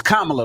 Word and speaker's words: Kamala: used to this built having her name U mispronounced it's Kamala though guys kala I know you guysa Kamala